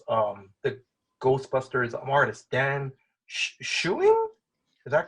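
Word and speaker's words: Schoening: did you and now I'm gonna try to pronounce um the Ghostbusters artist Dan shoing is that correct shing shing shing yeah so when did you guys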